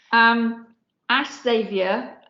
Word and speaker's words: Ash Xavier: Ash Xavier, I hope I am pronouncing your name correctly. Ash, please correct me if I'm not. Yes, you are.